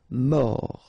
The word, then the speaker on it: mort: Final T not pronounced. O-R, or. Mort.